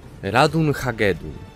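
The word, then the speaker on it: Ratonhnhaké:ton: A wymawia się je Radun Hagedun, co w pisowni wygląda tak.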